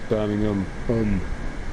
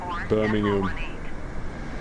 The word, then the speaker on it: Birmingham: It's Birmingham. There's no H. It's UM. That's how it's pronounced. Birmingham.